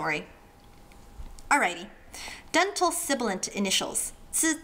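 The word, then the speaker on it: ㄗ: It's not just zzz, it's zzz, like with a D-ish sound at the beginning. Zi.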